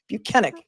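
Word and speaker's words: Bukhenik: was not Michael Proctor he told us that his name is buenik they allowed shu buenik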